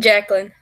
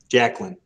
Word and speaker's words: Jacqueline: so how do you say your first name jacqueline jacqueline got it all right can you guys all